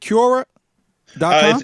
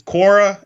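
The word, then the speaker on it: Quora: the site right core is it cure dies its Cora it's Cora and I mean it's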